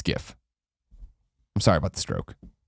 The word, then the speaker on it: GIF: they can live in ignorance and call a gift if they want I just want to really